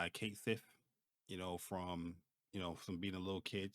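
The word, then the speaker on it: Cait Sith: character, but yeah, they officially confirmed the English pronunciation, which is Kate Sith.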